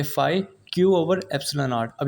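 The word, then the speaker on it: phi: इसकी जो प्रोनाउंसिएशन होती है पी एच आई फाई।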